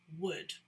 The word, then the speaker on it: would: get from a tree it sounds the same but it is spelt differently and of course it has a different meaning so if you're looking for the right pronunciation start by thinking of a tree and would it's the same sound so when we use